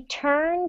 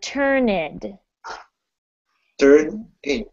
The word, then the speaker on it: turned: right yes yes um they often forget to pronounce the final syllable when it's a word that ends with the sound for example turned okay and you when you were reading it you said turn it in true okay so i